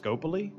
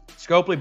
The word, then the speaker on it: Scopely: you sure it's pronounced scopoly i'm pronouncing it how an american would pronounce it scopely so scope because the o p and the e and then the lee at the end that's how they've pronounced